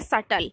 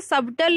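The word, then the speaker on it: subtle: आगे बढ़ जाते हैं, नेक्स्ट वर्ड क्या है, नेक्स्ट वर्ड है सटल। देखिए इसे सबटल नहीं पढ़ते, जो है ये साइलेंट होता है, ठीक है। तो वर्ड क्या हो जाता है, सटल।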